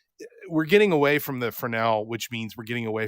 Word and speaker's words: Fresnel: Because I love the fact that we're going away from Fresnel, and yes, it's pronounced Fresnel, not Fresnel.